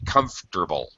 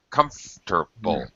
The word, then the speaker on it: comfortable: try if you can try to drop the o r in comfortable just uh native speakers just say comfortable comfortable like three syllables all right okay thank